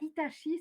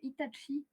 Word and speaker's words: Itachi: Et c'est pas Itachi, c'est Itachi.